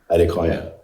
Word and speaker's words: Adekoya: Adequoa. Adequoa.